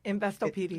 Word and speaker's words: Investopedia: She has been recognized in her industry by, pronounce that word for me, Investopedia? Investopedia.